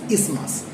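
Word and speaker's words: isthmus: thin flap of connective tissue which is called ismas. Though it spelling is I s t h m u s we will not pronounce it as ismas. The actual pronunciation is ismas.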